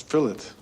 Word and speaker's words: fillet: anything the man says no it's fillet just as in wallet you don't say w do you you say wallet were William HTS lines